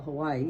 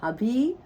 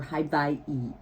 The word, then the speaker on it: Hawaii: know how to spell Hawaii, and I don't know how to say it, and all of that. Well, the W is pronounced like a V, so it is Hawaii, or Hawaii.